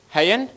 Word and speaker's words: Hayen: Okay, it's Hayen. Did I pronounce that correct? Hayen.